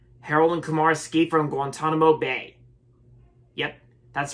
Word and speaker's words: Guantanamo: how to pronounce the how to how to pronounce Guantanamo so yeah it's Guantanamo Bay all right anyway so Harold and Kumar